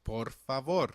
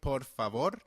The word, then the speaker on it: por favor: now look at please please is translated as porfavor in Spanish where port means for and father means favor hence please literally means asking for a favor can you try saying por favor por favor very well let's revise what we